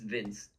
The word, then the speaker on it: Vince: It's just Vince. Oh, Simply Vince.